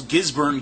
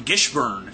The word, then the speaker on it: Gisburn: You know, he does say names wrong. He calls Gisburn Gishburn.